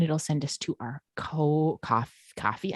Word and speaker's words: Ko-fi: send us to our coffee. I keep wanting to pronounce it Ko-Fi, but it's for sure coffee.